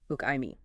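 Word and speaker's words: οὐκ: UK pronounced uk.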